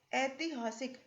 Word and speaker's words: ऐतिहासिक: इसका शुद्ध रूप है ऐतिहासिक, जिसको हम पढ़ते हैं, उच्चारण करते हैं ऐतिहासिक, यानी ये ए ना होकर के अय है।